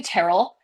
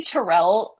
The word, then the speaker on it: Tarrell: You know, it's really funny that you say that because it is technically Terrell, but Terrell sounds like it just rolls off the tongue.